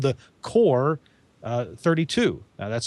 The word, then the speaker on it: QOR: axia makes for this line it's called the core 32 now that's spelled qor the core 32 and if you